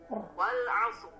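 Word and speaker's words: والعصر: Wal 'asr.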